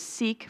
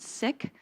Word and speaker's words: Sikh: Some people may know it as Sikh, but it's actually correctly pronounced, from what I understand, Sikh.